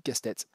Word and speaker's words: Castets: et alors moi au début je disais Castets parce que je suis né dans les Landes j'ai vécu dans les Landes et il y a un village au nord de Dax qui s'appelle qui s'écrit exactement comme le nom de la de celle qui devrait déjà être notre premier ministre mais ça se dit castetê et donc là il